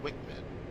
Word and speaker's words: WCMD: corrected munition dispenser wcmd often pronounced wick med like the paveway 2